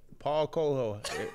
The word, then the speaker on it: Paulo Coelho: I ain't Paulo Coelho.